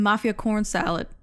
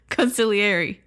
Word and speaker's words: consigliere: They call him Mafia Corn Salad. This is a gross mis- mispronunciation of consigliere.